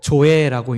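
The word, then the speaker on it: ζωή: 여기 생명이라고 번역되어져 있는 이 단어는 헬라어로 조에라고 읽는 단어입니다. 조에라고 하는 이 단어는 신약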